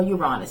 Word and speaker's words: Uranus: And going back to your fellow air sign, Aquarius is ruled by Uranus or Uranus. Some pronounce it Uranus, Uranus.